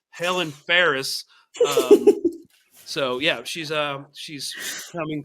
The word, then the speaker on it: Fares: I think I'm pronouncing that correctly. I'm an Yes. American. For all of you Americans, it's Helen Fares.